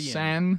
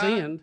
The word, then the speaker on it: Seine: San. It don't have a D in it. San. It's not sin. Yeah. Right, it's not send. No, it's just S-E-N, I think would be how you would pronounce it.